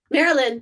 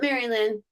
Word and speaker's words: Marilyn: yep yep and then mary lynn marilyn not maryland there's sue and there's